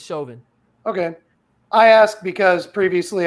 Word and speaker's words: Chauvin: match again again again is that how you pronounce his last name yep is Chauvin okay I asked because